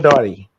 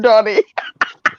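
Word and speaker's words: Dartey: Dory. Dory. D-A-R-T-E-Y. Oh, your T. I didn't hear it in your pronunciation.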